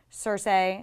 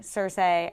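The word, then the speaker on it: Cersei: Telegraph to us like Sir say blowing up King's Landing and by the way because I got so much flak for it george RR martin pronounces sir say sir say and years ago i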